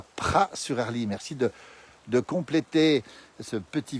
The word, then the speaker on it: Praz-sur-Arly: s'est créé 15 aides on prononce jamais les aides en savoie il faut le savoir et parfois même on ne prononce pas les à z en 10e place à